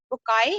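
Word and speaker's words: Bucaille: Basically we're going to pronounce it بکائی، لکھا ہوا بکائل ہے لیکن یہ نام مورس بکائی ہے.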